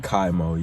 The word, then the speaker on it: KYMO: KYMO, yeah.